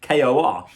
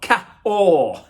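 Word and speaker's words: K'OR: reason why it's called kor is because in france the the k is pronounced ca and so you've got ka or not k.o.r kevin o'rourke no or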